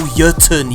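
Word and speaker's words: Jötunn: exotic bowler Monarque and the exotic fusion rifle Jotuun. Yes, that's how you pronounce it.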